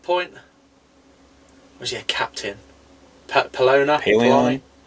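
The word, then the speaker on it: Pellaeon: Pelona? Paleon? Paleon, that's how you say it.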